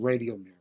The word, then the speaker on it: Radiomir: It's a Rajumir. Is that how you pronounce it? Rajum. I pronounce it Radiomir.